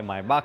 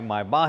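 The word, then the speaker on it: Maybach: अब एफाल्टबा कई लोग अलग अलग तरीके से प्रोनाउंस कर सकते हैं, बोल सकते हैं एफाल्टरबाक होता है, मायबाक होता है, मायबाह नहीं होता।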